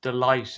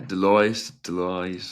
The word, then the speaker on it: Deloitte: This is I can't ever really pronounce the name of this company, I think, correctly, but Delight, is that how you say it? Yeah, Deloitte, I think.